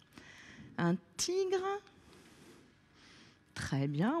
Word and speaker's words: tigre: Un tigre, très bien, on entend G dans tigre.